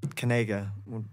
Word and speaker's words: Kanaga: like, nobody Fan will Kanaga. Be able to pronounce it. Everyone was like, Kanga's, nobody could, yeah, Kanga rules. Everybody would pronounce it wrong.